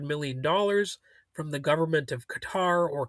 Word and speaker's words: Qatar: Trump accepted a Boeing 747, reportedly worth around $400 million, from the government of Qatar, or Qatar as some people pronounce it.